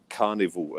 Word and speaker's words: Karnivol: It's spelled Karnivol, Carnival, and they're actually the band.